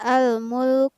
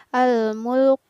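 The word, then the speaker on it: الْمُلْكُ: hal lembut hai kemudian lafaz al-mulk uh menggunakan huruf kaf ya bukan huruf qaf jadi kurang tepat jika kita membaca al mulk tapi yang benar adalah al-mulk uh uh kemudian wah-wah menggunakan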